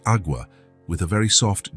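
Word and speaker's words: agua: It's pronounced awa with a very soft g e.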